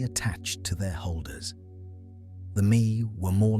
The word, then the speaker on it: me: The mi pronounced like the English word may were the divine decrees or powers that the gods possessed.